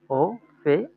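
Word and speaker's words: Opa: হুম, ও ও তারপরে হচ্ছে ও পে ফে আ আ ও ও পে আ ও ফে আ। উচ্চারণ কি হচ্ছে? উচ্চারণ হচ্ছে ও কি? পে ও ফে আ, ওফা, তাই না?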